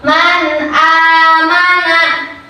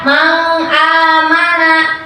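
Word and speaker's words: مَنْ آمَنَ: Contoh, man amana. Ikutin man amana. Nah, itu adalah cara membaca hukum izhar. Jangan kalian baca mang amana. Itu salah, tapi harus diizidharkan. Man amana.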